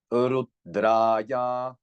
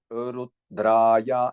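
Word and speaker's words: रुद्राय: Rudraya, Rudraya, this Ra, you see. And you see Ra is dirgham, meaning the long syllable, because of this horizontal line above, but also because of horizontal line below, it is the long syllable and, you know, the lower note.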